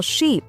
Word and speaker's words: sheep: For example, words like ship and sheep. Many learners pronounce them the same, but ship has a short I sound, while sheep has a long I sound.